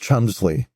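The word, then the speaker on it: Cholmondeley: hambury yes yes and her last name which is spelled in a quite complicated way is pronounced Chumley oh her yeah her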